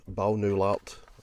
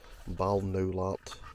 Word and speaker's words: Balnowlart: i'm picked today is bow new lot as i pronounce it bal no lot a mansion house it